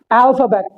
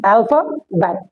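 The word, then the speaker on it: alphabet: क्या है अल्फा बेट अब जो एंड में आ रहा है टी अगर कभी भी इन द लास्ट टी या डी आ जाता है तो हम उसे प्रोनाउंस ही नहीं करते अगर हम इसे बोले अल्फाबेट हमें पटाखा फोड़ने की जरूरत नहीं है हम य ए रोक लेंगे साउंड अपना बन जाएगा अल्फाबेट अल्फाबेट जैसे मान के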